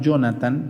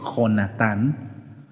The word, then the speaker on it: Jonatán: Saúl tiene un hijo que se llama, aunque lo pronunciamos Jonathan, pero está mal dicho, se dice Jonatán.